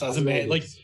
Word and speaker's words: Ozymandias: Ozymandias. Yes, Ozymandias.